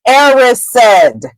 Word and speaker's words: Erised: the mirror of erised that is the proper way to say that word if you read the chapters alloud on YouTube the word is erised okay the mirror of